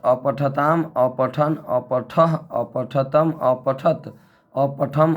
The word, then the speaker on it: अपठः: फिर लंग लकार में अपठत अपठताम, अपठन अपठः अपठतम अपठत, अपठम अपठाव अपठाम। दोस्तों ये जो विसर्ग दिख रहा है संस्कृत में, इसका उच्चारण ह करेंगे, अपठ नहीं बोल सकते हैं, अपठः।